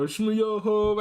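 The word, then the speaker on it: Schmoyoho: Oh, Shmoyoho, accent on the yo, the babes of many musical.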